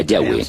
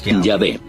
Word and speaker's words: Yahweh: De acuerdo con una de las explicaciones, Abraham conocía a Dios por su nombre más íntimo y personal, que normalmente se pronuncia Yahweh, Yahvé.